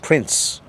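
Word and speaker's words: Prins: He said his name was Prince, P-R-I-N-S, pronounced Prince.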